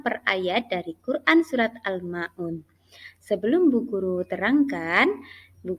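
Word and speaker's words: الماعون: berikutnya yaitu almaun itu adalah Mad Thobi'i tapi karena bertemu dengan Nun yang bersifat Hah atau Nun hidup atau huruf hidup kemudian kalian baca waqaf maka bacanya menjadi panjang almaun itu namanya Mad Arid lissukun sampai sini paham coba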